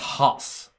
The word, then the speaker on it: Haas: It's pronounced Haas.